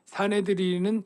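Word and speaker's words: 산헤드린: 공회랑 사네드린이랑 같은 뜻이고, 조금 뭐 헬라어인데 뭐 시네드리온 그런 발음이에요. 시네드리온. 사네드린은 히브리어로 발음이고 시네드리온은 헬라어 발음인데 한마디로 말하면 공회라는 뜻이에요.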